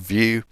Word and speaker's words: Vue: JavaScript library it's based heavily on vue.js which is spelled Vue Alpine is like a cut down version of view um you'll also see react but react requires